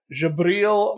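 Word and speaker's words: Djibril: And this was drawn by Jabril Morissette-Fan with colors by Matt Milla and letters by Corey Pettit. I looked up how to pronounce the artist name. Apparently, it's Jabril. The Arabic version of Gabriel, which I think is interesting.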